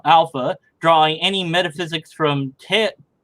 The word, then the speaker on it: Taoism: JMD Apologetics 101, who I've interacted with a couple times, is, are you, Alpha, drawing any metaphysics from Taoism? Yeah, it's a D, even though it's a T.